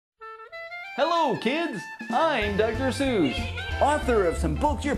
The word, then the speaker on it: Seuss: You're wrong as the deuce, and you shouldn't rejoice. If you're calling him Seuss, he pronounces it Seuss.